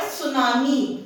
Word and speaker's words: tsunami: Then comes the word tsunami. This T is silent.